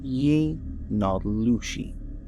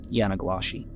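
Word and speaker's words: yee naaldlooshii: However, its roots lie specifically within the Navajo people, who originally named skinwalkers Ye-Nallushi, but you may have heard it mispronounced as Yanaglashi.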